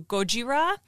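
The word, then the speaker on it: ゴジラ: heard a lot of the japanese pronunciation is closer to gojira and it is a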